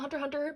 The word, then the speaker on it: Hunter x Hunter: was Hunter x Hunter even though I don't pronounce the X but it's there right here in bold it was between this